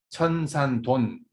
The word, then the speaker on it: 천산돈: 1, 7은 천산돈. 그래서 이 돈자를 둔자로도 이렇게 발음하는 그런 학자들이 있고 그러는데 저는 그 스물돈자로 저는 발음을 합니다. 그러니까 저랑 같이 공부할 때는 천산돈이라고 암기를 하시기 바랍니다.